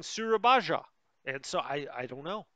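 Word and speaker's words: Surabaya: never been there and i don't know exactly how to pronounce it but i listened to a historical video like real life historical video uh the other day and they were they kept saying surabaja and so i i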